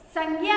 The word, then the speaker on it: संज्ञा: बच्चों, ये संज्ञा है, संज्ञा नहीं है। ओके, इसका प्रोनाउंसिएशन हम कैसे करेंगे? संज्ञा। ओके, क्योंकि मैंने देखा है बहुत से लोग है ना संज्ञा बोलते हैं, तो संज्ञा नहीं होता है, ये क्या है? संज्ञा। तो राइट प्रोनाउंसिएशन क्या होगा हमारा इसका?